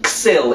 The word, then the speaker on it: Sil: du shill the the there's this river here there called the sil sil uh or the sil if you adopt the local pronunciation um so that the